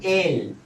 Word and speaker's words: él: Él. That is the pronunciation.